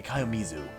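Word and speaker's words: 清水: Is it pronounced like Kayomizu? Yeah, Kayomizu.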